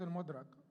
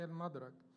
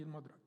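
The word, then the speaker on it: المدرك: Pronunciation is al-Mudrak. Most of the people say al-Madrak, but the people of, linguists say it should be al-Mudrak.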